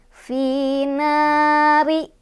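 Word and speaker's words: نَارِ: Finari. Ro-nya dibaca secara tarqiq atau tipis ya, karena barisnya ada di bawah, jadi ri.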